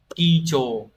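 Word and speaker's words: 基調: Từ này đọc là kicho.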